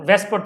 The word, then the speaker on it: VSEPR: Pair repulsion theory है, जिसे लोग विसेपर थ्योरी हमें बोलना चाहिए, लोग बोलते हैं वेस्पर थ्योरी, तो इसके प्रोनाउंसिएशन के हिसाब से इट्स विसेपर थ्योरी।